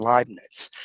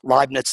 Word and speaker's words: Leibniz: significant inroads into calculus prior to newton and leibniz and then of course the co-founders or the